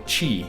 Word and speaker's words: Qi: ancient Chinese who believed in ki or Chi is actually how you pronounce itqi energy is the